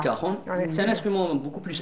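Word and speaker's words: cajón: que je le dise normalement on l'appelle le cajon ça s'écrit le cajon voà et ça ça se prononce le r donc c'est le Caron c'est un instrument beaucoup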